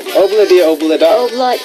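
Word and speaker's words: Ob-La-Di, Ob-La-Da: That's how you say it, by the way. Obladi Oblada. Obladi. It's hard. It's hard at first.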